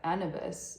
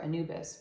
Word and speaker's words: Anubis: the ancient Egyptian god of the a afterlife anibus or Anubis why did I say it like that um